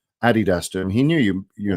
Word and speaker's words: Adidas: So it's Addy Dazzlet. Adidas. Yeah. That's not really up for debate. If you want to pronounce it, you can call it Adidas if you like, but it's just not right.